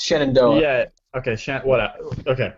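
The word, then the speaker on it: Shenandoah: don't know he inginia for a while it's shanono yeah okay sh what okay I'll take thank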